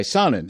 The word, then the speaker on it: Sonnen: Sonnen is how you pronounce it, right?